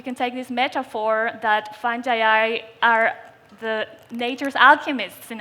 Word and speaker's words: fungi: It's an honor to be here at the Dubai Future Foundation and to present the future of fungi, or fungi, whichever way you want to pronounce it. I personally prefer fungi.